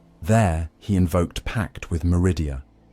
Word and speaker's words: Meridia: There he invoked pact with Meridia, pronounced Meh Redar, offering bound souls of his loyal nobles in exchange for luminous legion.